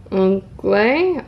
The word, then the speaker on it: onglai: And in Taiwanese, pineapple is pronounced Onglai, O-N-G-L-A-I, which is similar to the phrase for the arrival and prosperity and fortune.